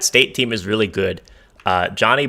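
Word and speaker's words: Johni: Johnny Broom, or I think it's pronounced Janai Broom, is just an absolute monster.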